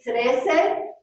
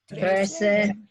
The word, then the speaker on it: trece: 13, trece. Trece. Let's try 13 again. Trece. Good. Remember the T. Tongue on the roof of your mouth behind your front teeth.